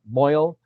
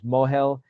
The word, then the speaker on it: mohel: and so it's then we have the right, so we have the mohel, right, or in the Ashkenazi yeshivish pronunciation moil, even, right, but it's the Hebrew is mohel, right.